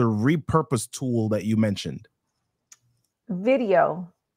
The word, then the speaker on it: Vidyo.ai: Video.ai. And I think it's spelled like VIDYO.ai. That's correct.